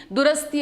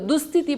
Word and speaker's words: ದುರಸ್ತಿ: ದಿನವೇ ತಪ್ಪು ಉಚ್ಚಾರಣೆ ಮಾಡಿದ್ರು ತಮ್ಮ ಭಾಷಣದಲ್ಲಿ ಸಂಗತಿ ಅನ್ನೋ ಬದಲು ಸಂಗಾತಿ ದುರಸ್ತಿ ಅನ್ನೋ ಬದಲು ದುಸ್ಥಿತಿ ಮಾಡಲಾಗಿದೆ ಅಂತ ತಪ್ಪು ಉಚ್ಚಾರಣೆ ಮಾಡಿದ್ರು ಅಲ್ಲದೆ ಹಲವು ಕಡೆ ತಪ್ಪು